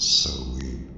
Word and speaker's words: Samhain: Samhain, pronounced Samhain, where so rhymes with cold, derives from the Gaelic Samhain and means summer's end.